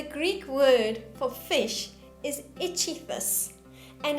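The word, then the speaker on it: ichthys: you why the greek word for fish is ichithus and it's spelt i-x-o-y-e and what the christians did is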